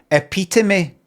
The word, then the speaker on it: epitome: the thing it's pronouncing it appet but the thing is you're pronouncing it in your accent I'm going to go out there now with my accent and say epitome epitome.